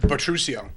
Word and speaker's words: Butruccio: how do you pronounce it? Butruccio.